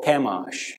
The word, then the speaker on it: Chemosh: And they're in Moab, and you need to understand that Moab is their supreme deity, their chief deity is Shamash or Chemosh, depending how you pronounce it.